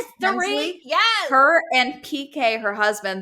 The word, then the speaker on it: Dorit: But then also with Erica on Real Housewives of Beverly Hills, Dorit Kempsey, how do you pronounce it? Dorit, yes.